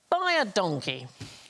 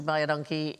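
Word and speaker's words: baie dankie: is you is welcome, because it sounds like buy a donkey, but it's identical to the Afrikaans phrase, which means thank you very much. So, phonetically buy a donkey.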